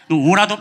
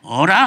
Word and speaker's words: 오라: 오라도 발음을 잘해야 돼요. 어라 하면은 비웃는 거예요.